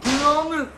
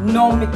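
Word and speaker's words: gnomic: Nomik! Ha? Nomik! Mali! Ang tamang pagkabigkas dyan, Nomik Silent G.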